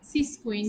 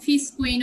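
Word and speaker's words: physcion: সিসকুইন বা ফিসকুইন উচ্চারণ করতে পারো, আমার মনে হয় এটা ফিসকুইন উচ্চারণ করাই ভালো হবে, PHYSCOIN, ফিসকুইন এন্ড রেইন।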